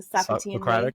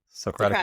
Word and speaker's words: Socratic: Oh my gosh, can you pronounce it for me? The Socratean way? Socratic method.